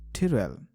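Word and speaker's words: Tyrell: I know it's टायरेल वेलिक, बट मुझे Philip price का pronunciation ज्यादा अच्छा लगता है। टिरेल, मस्त रिंग है उसमें।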